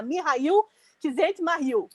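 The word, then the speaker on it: Mihály Csikszentmihalyi: É o Mihail, a pesquisa que eu fiz me mostra que o nome dele se pronuncia Mihail Csikszentmihalyi, mas se vocês forem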